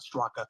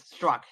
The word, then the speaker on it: Straka: about and by the way his name is pronounced Brandon Str not straka and I was I asked him and yeah that's what he said it's struck but anyway I it did go back to